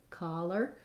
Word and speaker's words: collar: And again, our letter O is again here an ah sound, like cholera.